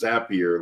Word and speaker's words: Zapier: and the adding on of zapier which we were told for sure it is pronounced zappier like happier call zaps don't call and